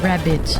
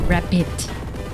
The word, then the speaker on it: rapid: Not rabbit, rapid.